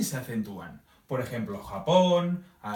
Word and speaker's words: Japón: Por ejemplo, Japón. ¿Sí? Nosotros ponemos énfasis en el pon, de Japón.